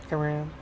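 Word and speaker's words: Aran: Aram. Yeah, Samus Aram. Yeah, a lot of people pronounce the same as Aaron.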